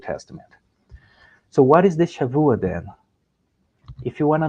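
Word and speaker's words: שבוע: you today is called Shavua. You write with a B, but it pronounced V, Shavua.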